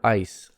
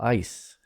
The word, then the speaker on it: eyes: he looked into her eyes sounds very different okay so if you're complimenting a woman on her beautiful eyes just say eyes not oh you have beautiful ice yes the freezer works